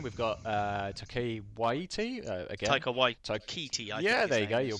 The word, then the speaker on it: Taika Waititi: Taika Waititi. Yeah, there you go. Your pronunciation better than mine.